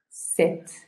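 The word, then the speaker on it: sept: Set. Set. No set con la P, sino set. Sí se escribe la P, pero no la pronunciamos.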